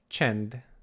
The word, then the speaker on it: csend: And our example word for today is csend.